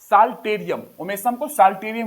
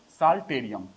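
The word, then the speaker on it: Psalterium: saltarium भी बोलते हैं साल टेरियर भी बोलते हैं पीस साइलेंट है साल टेरियर तो यह तो इतना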